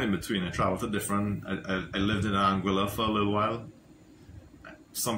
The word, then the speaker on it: Anguilla: I lived in Anguilla for a little while. Some people don't understand. When I say Anguilla, some people think Angola, but it's my accent. It's Anguilla.